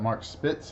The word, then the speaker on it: Mark Spitz: So cool Jim Calhoun photo, Bob Dole photo, and what's that, Mark Spitz, I believe it's pronounced.